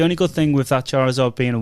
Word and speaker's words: Charizard: Just as an approximate thing, what would a 1 Charizard, is that how you say it? Yeah. Charizard be worth?